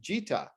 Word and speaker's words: Gita: Well, Gennaro, another cool thing that you're selling here in North America is the Gita. Yes. I hope I pronounced that right.